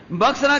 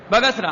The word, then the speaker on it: बगसरा: बक्सरा गांव, बक्सरा ग्राम है, बगसरा, हाँ बगसरा बोल दो उच्चारण में गलती है।